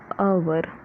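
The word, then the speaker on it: hour: आवर को हम बोलेंगे आवर, ठीक है। तो ये स्टार्ट हुआ ए से, जैसे हम बोलेंगे आवर, एच कम्प्लीटली साइलेंट है तो हम बोलेंगे आवर, ठीक है।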